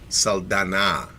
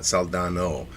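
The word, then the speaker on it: Saldana: Uh but Zoe I'm sorry I pronounced her name wrong. Zoe Salana, not Salano.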